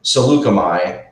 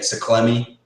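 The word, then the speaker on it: Saleucami: you know I used I used to call the planet saklami it's that planet that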